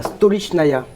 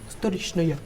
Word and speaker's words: Stolichnaya: Comment elle s'appelle cette vodka Parce que moi j'arrive pas à la prononcer. Steyerniauer. C'est une vodka japonaise. C'est pas mal. Non c'est la Stolichnaya. Stolichnaya.